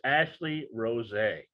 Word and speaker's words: Ashleigh Rose': you've changed your name it's ashley rose yeah i put the accent on the e and i know i